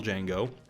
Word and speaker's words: Django: This, by the way, is Franco Nero, star of the original Django. The D is silent.